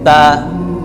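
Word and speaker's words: ت: এটা একটু সমস্যা আছে, এটা হচ্ছে তা, অনেকে আমরা সা বলি, মানে বাতাস বাহির করি বলার সময়, হরফটা যখন উচ্চারণ হবে তখন বাতাস বের হবে না, শুধু স্পষ্ট হবে তা। হ্যাঁ, খালি বলবেন তা, জিব্বার আগা থেকে তা তা তা তা তা।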